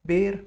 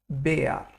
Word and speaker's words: Bär: Now, R in German is a strong letter. It's pronounced like AR. So we'll not pronounce this like bear. We'll rather say it Bär.